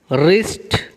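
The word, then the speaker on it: wrist: या कांधा, टूथ दांत, रिस्ट कलाई। रिस्ट में भी जो पहले का डब्ल्यू है वो साइलेंट लेटर है, खामोश हर्फ है।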